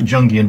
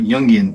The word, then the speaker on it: Jungian: of a psychological Jungian, as I've been corrected, not Jungian, but Jungian tarot, and that's the correct pronunciation.